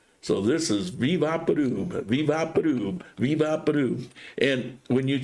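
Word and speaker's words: Vick VapoRub: Vivaporub. V as in Vicks. They don't say Vicks, they say V. Vaporub, vapor rub, pronounced the way they pronounce their letters. So this is Vivaporub, Vivaporub, Vivaporub.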